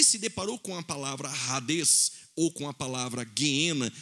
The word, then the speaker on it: Hades: escreve Hades com H, mas o H no grego tem som de R, assim como o hot dog em inglês, assim como também a maionese Hellmann's. Logo, a palavra Hades, quando ele se deparou